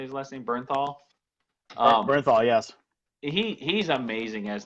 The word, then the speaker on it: Bernthal: Jon Bernthal is how you say he's lessening Bernthal Bernthal yes he's amazing as The Punisher he